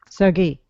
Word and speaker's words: Sergei: Serge hello hello hello do you pronounce your name Serge or Sergey uh whatever whatever you like tell me I want I want to know how you say it in Russia Sergey Sergei Serge yeah Sergei yeah all right in